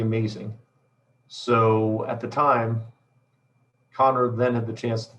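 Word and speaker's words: Kanner: It does look like Canner, but it's pronounced Connor.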